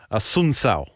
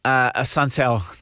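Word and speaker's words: Assunção: Fight 5, we've got, you were teaching me how to say this guy's name, Rafael ASSUNCAO.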